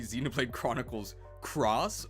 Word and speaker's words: Xenoblade Chronicles X: Xenoblade Chronicles x uh in Japanese you actually pronounce it as cross so it would be Xenoblade Chronicles Cross or Monster Hunter cross